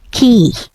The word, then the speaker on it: Quay: din siya kasa yun i-pronounce no it's key again key so nasa ubos ang